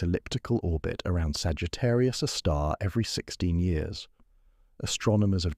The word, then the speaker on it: Sagittarius A*: Pronounced Sagittarius, a star, this gravitational monster weighs about 4 million times as much as our sun, yet occupies a region smaller than Mercury's orbit.